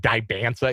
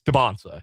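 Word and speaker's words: Dybantsa: By the way, I want to apologize for mispronouncing AJ Donsa's name like all season. I I had really like bastardized saying Dansa. It's Dansa.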